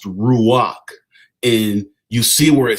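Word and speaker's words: רוּחַ: So the tag number was 7307 in the Strong's Hebrew called the dictionary and it's pronounced ruach.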